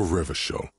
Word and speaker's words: Revachol: For Revachol, your city. If it doesn't rhyme, you're not pronouncing it right.